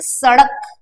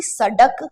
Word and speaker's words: सड़क: अभी आपको कहा कि जैसे सड़क, सड़क ऐसा, तो इसमें अड़ा है ना कि सड़क, गलत है वो, है ना, डा डमरू का नहीं आएगा, अड़ा आएगा।